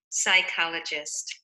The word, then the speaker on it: psychologist: it in this word the p is silent when you see a p and a s together it's going to be silent and the ch is